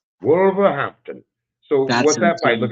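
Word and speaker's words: Wolverhampton: said you're fighting in wolver make sure I'm pronouncing that correctly where is it wol wolver Hampton wolver Hampton so what's that fight look how how far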